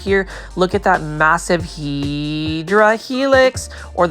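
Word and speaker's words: Hedera helix: Look at that massive Hedra Helix or the correct way to say it is, say it with me, Hideera Helix.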